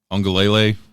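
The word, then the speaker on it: Uiagalelei: I think the big story there is Ungalele. I think that's how you pronounce it. There's no N in that name, but I always hear an N every time somebody pronounces it.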